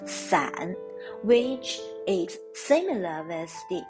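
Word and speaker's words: 伞: one yes it's ombrida the umbrella in mandarin is pronounced as san which is similar as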